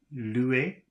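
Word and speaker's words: louer: here are some more words read them before your instructor does so we have uh l-o-u-e-r Louis and then we have d-o-u-e with an accent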